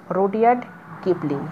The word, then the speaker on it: Rudyard Kipling: Writer হচ্ছে রুডিয়ার্ড কিপলিং। ওকে, রুডিয়ার্ড কিপলিং। তোমরা স্পেলিংগুলো দেখে নেবে এবং উচ্চারণটা ভালো করে শুনে নেবে।